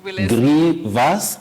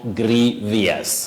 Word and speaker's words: grievous: not mischievous all right Grievous not Grievious okay uhhuh got it